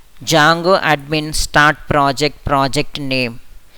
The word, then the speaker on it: Django: Commands of एन ए जंगो। डी इज अ silent over here.